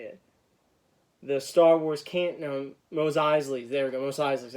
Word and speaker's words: Mos Eisley: tomorrow morning at midnight, the new Star Wars Mosley Alley set. Now I can't remember how to say it. The Star Wars Mos Eisley's.